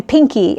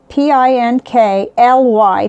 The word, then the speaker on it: Pinkly: it wrong last time i was saying pinky and it's p-i-n-k-l-y pinkly it's just real flowy